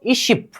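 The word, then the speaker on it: 이십: फिर से उच्चारण, ई सी बिल, सिर्फ इसको उच्चारण कीजिए 20 को, इशिप, इशिप, इशिप बुने खाओ, ठीक है, सोनून छिपे इशिप बुने खाओ।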